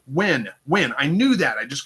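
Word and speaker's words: Nguyen: The last name is pronounced like Win.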